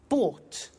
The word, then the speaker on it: bought: in the story so listen carefully to the pronunciation bu bought you notice that o u g HT is